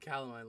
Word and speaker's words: calamine: I I have pink things somewhere I got caline lotion wait wait I say that again I'm